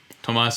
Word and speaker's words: Tomas: it's swedish i know i thought for a long time you were thomas erickson but we've corrected that now tomas is from sweden so what is your